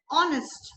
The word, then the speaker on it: honest: An honest man, H is silent.